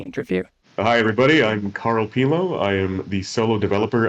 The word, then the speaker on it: Pilon: Yeah, so my last name is Pilon, Pilon en français. Pilon. But nobody can pronounce it properly in English. They usually say Pylon, and so that's stuck